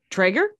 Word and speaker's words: Treyger: Treyger? Yes, perfect. Yes, I did it. It's Liza Treyger, but it's spelled Liza, L-I-Z-A, in my head.